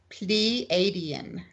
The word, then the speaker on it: Pleiadian: You want to say please, Pleiadian. Pleiadian. It's the A part that I keep messing up. Pleiades. There we go. Okay, Pleiadians.